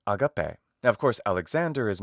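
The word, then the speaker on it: ἀγάπη: Pronunciation-wise, because in ancient Greek pronunciation, say the classical Attic pronunciation, the pronunciation that Alexander the Great would have learned studying with his teacher Aristotle, an Athenian philosopher, that pronunciation is agape.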